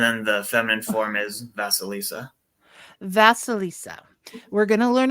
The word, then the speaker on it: Vasilisa: the book, and I'm going to say her name wrong, I'm sure. Baba Yaga and Felissa? Oh, sorry. How do you say it? Valilissa? Oh, Baba Yaga Vasilisa? and see, I'm completely off. Okay. Vasilisa.